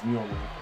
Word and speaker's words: Mjolnir: It's Mjolnir.